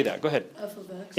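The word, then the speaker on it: f(x): say that go ahead f of x it's F ofx right it's not FX or f x x definitely not it is f ofx F ofx there we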